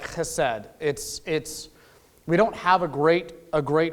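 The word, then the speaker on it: חסד: So the first concept I want to talk about, I'm going to practice my Hebraic pronunciation, chesed.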